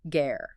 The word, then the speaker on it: ger: Let's explain the word ger. It is spelled g e r and pronounced like gare.